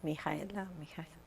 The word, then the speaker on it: Mihaela: I love the Mihaela.